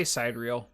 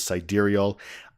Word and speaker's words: sidereal: in the Elysium quadrant I say SideReel I know I did too at first and I think a lot of people did but then other videos I was watching for reviews they pronounced it correctly which is side aerial I'm assuming it's a